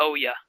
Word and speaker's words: Oya: How do you say that again? The Oya. Oh yeah. Yes. As in, oh yeah.